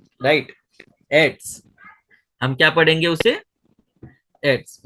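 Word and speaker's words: עץ: आइन जो है वो साइलेंट है, उसके नीचे क्या है? सेरे है। आइन साइलेंट है, उसके नीचे सेरे है। सर। और फिर बाद में ये है अपना शादी है, शादी सोफित है। शादी सोफित जो आइन का खुद का साइलेंट है, उसके नीचे जो लेटर है अपना सेरे, तो उसका ई आएगा। और जो शादी सोफित है उसका टी एस आएगा। तो आप उसे क्या पढ़ोगे? एट्स। जी, राइट, एट्स।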